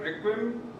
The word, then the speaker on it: Requiem: His novel is called Requiem, am I pronouncing it correct?